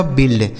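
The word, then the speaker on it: build: इसे पढ़ा जाएगा बिल्ड। बी से हो गया ब। यू और आई का उच्चारण छोटी इ की मात्रा। एल से ल डी से ड। इसे पढ़ेंगे बिल्ड।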